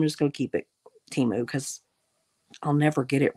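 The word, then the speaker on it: Temu: mind every time you can go Cy it's timu or whatever it is I don't know but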